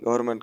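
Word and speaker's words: government: गवर्नमेंट का spelling चुनना है तो इसका सही स्पेलिंग हो जाएगा गवर्नमेंट का जी ओ वी ई आर एन एन एम ई एन टी गवर्नमेंट N silent है।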